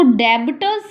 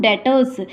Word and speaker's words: debtors: इसको डेबिटर्स नहीं बोलेंगे, ये बी जो है इसमें ये क्या है, साइलेंट वर्ड है, तो इसे क्या बोलेंगे हम, डेटर्स। तो ये डेटर्स कहलाते हैं।